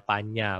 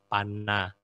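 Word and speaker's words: paññā: karena panel2 Ching A jadi bacanya Panya bukan bacanya panah ini contoh kemudian MM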